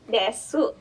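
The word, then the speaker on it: です: Jadi desu, tapi bacanya tidak dibaca U ini.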